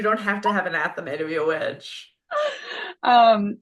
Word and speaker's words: athame: It's pronounced Athame. It's Athame.